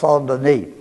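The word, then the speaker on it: Saint-Denis: that's a saint St period d-e-n-i-s and it's pronounced sandini it's named after uh well the story is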